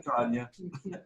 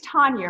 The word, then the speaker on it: Tonja: Tanya. So, yeah, he disappeared for a minute. No. Well, anyways, it's Tonja, right? We said Yeah. it's Tonja.